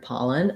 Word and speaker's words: pollen: at the word pollen we have first syllable stress in the word pollen so the paw syllable is long and the len syllable is short and unstressed letter o often says vowel ah in a stressed syllable like in hot and not and it might help